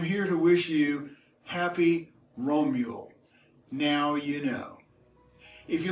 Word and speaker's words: Romjul: found it it's called romeo r om j UL because in the scandinavian languages the JS are pronounced like americans pronounced the wiro mule and it refers to